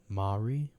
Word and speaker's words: Mowry: Mowry?